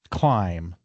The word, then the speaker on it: climb: And it's easier not to pronounce the B and that's what happens.